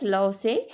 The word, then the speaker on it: loci: Lossy pronounced as loci is a plural form of locus which refers to position or place.